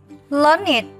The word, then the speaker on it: learned: Đuôi ED trong các tính từ sau đây sẽ được phát âm là IT. Các em sẽ cùng đọc với cô và hãy cùng nhớ lưu ý những tính từ này. Âm ED luôn luôn được đọc là IT. Aged, learned, beloved, blessed, naked.